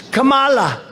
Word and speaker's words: Kamala: to interrupt him know my name is Kamala like Kama I remember that like